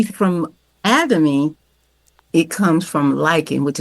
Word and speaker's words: Atomy: How do I pronounce it again? Atomy? Atomy.